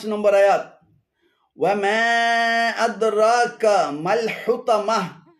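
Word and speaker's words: أدراك ما: এখানে আদরাক এবং কামাল উভয়টি ভুল উচ্চারণ। শুদ্ধ উচ্চারণ হবে আদরাকা মাল, আদরাকা মাল।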